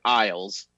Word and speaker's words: Isles: talking rizzoli and isles it's pronounced the same as the word isles i'll be listening to